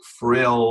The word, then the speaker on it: frilled: it's yellow arrows frilled yellow times three pronounce the L on that just pronounce it just pronounce the L actually right so it's